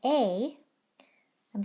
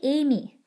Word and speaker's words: ame: Don't say Amy. The E doesn't make any noise. Don't say anything when you see it there. It's just there to cast a spell.